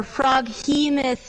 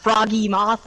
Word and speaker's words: froghemoth: So, froggy or froghemoth legs, which is how you're supposed to pronounce it, not froggy moth legs.